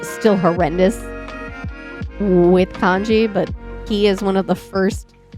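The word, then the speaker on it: 気: Like that kanji is definitely, so it is Ki.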